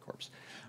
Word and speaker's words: Corps: No, nobody said Corps. Anyway, so so that's not quite sure why we do the French silent P there, but we do.